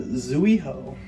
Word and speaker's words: Zuiho: Welcome back to another video, and today we got the Zuiho, or oh yeah, that's how it's pronounced.